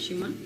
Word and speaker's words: Szymon: Szymon, right? The pronunciation is good. Szymon.